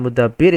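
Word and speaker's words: مُدَبِّر: al-mutaffifin yang mengatur ya Kenapa lumut tebir bukan alam mudabbar kalau Al mudabbir itu adalah smkl maka dia bacanya mudabbir kalau mudah per yang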